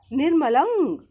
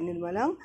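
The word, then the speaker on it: निर्मलं: এখানে যে এই যে পুটলিটা দেওয়া আছে ফোঁটাটা, এটা অং উচ্চারণটা হয় নির্মলং অং। এখানে অং আহ উচ্চারণটা হয় নির্মলং।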